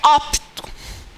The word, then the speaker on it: opto: Repare que quando a gente pronunciar adequadamente esse termo, esse P aqui quase que não sai. Ele quase que é sugado pela vogal anterior. Pelo O. Porque a base da sílaba tem que ser em uma vogal. Então fica opto.